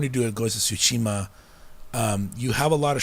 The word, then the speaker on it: Tsushima: Yeah, but Ghost of Tsushima, is that how you say it? Tsushima. Tsushima. Suit. TSU. Oh, Tsushima.